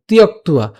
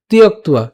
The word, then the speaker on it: ত্যক্ত্বা: যদি হসন্ত না থাকতো তাহলে তিয়ক্ত উচ্চারণ করতাম, কিন্তু এখানে হসন্ত থাকার কারণে উচ্চারণ হচ্ছে কি তিয়ক্ত, তিয়ক্তুয়া। একসাথে উচ্চারণ করবো তিয়ক্তুয়া, তিয়ক্তুয়া।